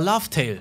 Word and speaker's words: Laftel: Es liegt halt an der Aussprache im Japanischen. Und es ist einfach, für Japaner ist der Reveal einfach nochmal viel krasser, weil sie ja eh schon immer Laftel gesagt haben.